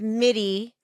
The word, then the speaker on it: MIDI: So you're saying, like, I have an appointment with MIDI. Is Yes. that how you say it? MIDI? We love MIDI. MIDI. Yep.